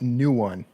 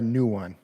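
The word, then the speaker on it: Nguyen: So it's pronounced new one, Sarah, new one. I thought there was like that G kind of had a ng sound to it, but it's new one.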